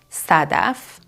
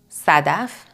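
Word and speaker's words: صدف: in passion so um we pronounce it like a normal s examples Sadaf Sadaf which means shell like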